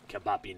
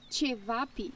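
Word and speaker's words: ćevapi: Can it, Kabapi Nose? It's pronounced Chevapi.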